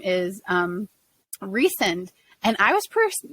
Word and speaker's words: Rysand: But throughout the entire series, I was like, that's Rysand, that's Rysand. And then in the audiobook, they said, no, it's Rysand. And I was like, oh, that kind of makes more sense.